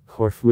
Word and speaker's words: Corfu: in russian the name corfu though it is more correct to put an italian an accent on the second syllable corfu is widespread the big russian encyclopedia gives both accents corfu the name kofu is